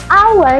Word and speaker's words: hour: Padahal kalau ditulis depannya itu H ya kan horur dan hones gitu ya. Tapi ketika dia diucapkan dia bunyinya a, our dan honest makanya kita pakai.